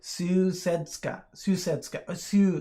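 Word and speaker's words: Sousedská: the last movement because pronounce it Sousedska. So it's more like like sewing, or Sousedska.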